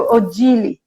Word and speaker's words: Odile: Mas aqui no Brasil eu gosto da pronúncia brasileira do meu nome, que é Odile, né? Então, os brasileiros, para os brasileiros, eu sou Odile.